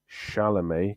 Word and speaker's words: Chalamet: Timothy Chalamet Ding Dong, as my friend calls him, but it's pronounced Chalamet because he's French.